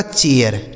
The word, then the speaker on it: chair: तो C ऐसे हो गया च, इस AI का उच्चारण ए, आर से हो गया र, यह लिखा गया आपका चेयर।